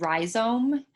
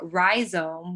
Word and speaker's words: rhizome: And then there's also, there's a website called Rhizome that is a archive of digital, basically of digital art or net-based artworks.